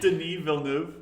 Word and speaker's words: Denis Villeneuve: Denis Villeneuve. Denis Villeneuve. Oh, I should know that because it's French.